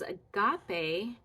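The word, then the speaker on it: ἀγάπη: hamartia so this is agape it has a breathing mark the other direction this is a smooth breathing mark so that the alpha is pronounced just the way an alpha sounds ah Agape agape hamartia Agape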